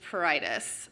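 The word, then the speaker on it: pruritus: a little Rebus here it's perr like the sound that a cat makes I like your eyeball T which is the T sound and then us which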